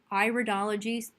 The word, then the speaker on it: iridology: Cosmano, and today we will be looking at the iridology, pronounced iridology as in iris, which is the study of the genetic inherent strengths and weaknesses of the iris as through color, accumulation, and structure.